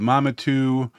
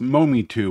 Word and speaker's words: Mometu: they say it's pronounced Momi 2 which means more for me and you so Momi 2 is